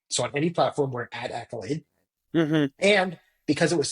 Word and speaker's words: AKYLADE: a d e but it's still pronounced Accolade and looks like Accolade when you look at it the reason we did